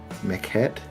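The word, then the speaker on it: Mekhet: Um he was turned by a mechette. That's how you pronounce it correctly.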